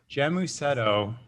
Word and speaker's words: Gēmusetto: It's Gēmusetto.